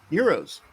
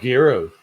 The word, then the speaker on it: gyros: Euros. Oh, Guros. No, Euros. Say it right. Gyros. Gyros. Gyros. You just like gyating. No, shut up. Gyros. Gyros. Euro. They're euros. The the G is silent.